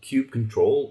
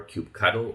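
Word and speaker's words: kubectl: do that with a command that is called cube control or cube cuddle as some people like to say and there's some debate going on what the um actual pronunciation is um so i'm sticking to cube cuddle but that's up to you um so these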